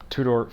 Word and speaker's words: Tudor: fast rider i know i said it wrong earlier and it's the two-door fast rider black shield